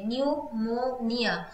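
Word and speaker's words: pneumonia: তো option D হয়ে যাবে আমাদের সঠিক উত্তর, পিটা সাইলেন্ট থাকে যখন আমরা নিউমোনিয়া স্পেলিংটা অর্থাৎ প্রোনাউন্সিয়েশন যখন করি পিটা কিন্তু সাইলেন্ট থাকে, নিউমোনিয়া, যেরকমটা আমরা সুনামির ক্ষেত্রে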